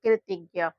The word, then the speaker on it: कृतज्ञ: Last में ज्ञ में आ का उच्चारण निकलता है तो इसलिए यहाँ पर ए का यूज करते हैं कृतज्ञ।